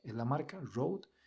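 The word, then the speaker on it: Rode: se llaman los Road Wireless Go 2 estos se escriben r o d e es la marca Road y luego está el nombre del micrófono en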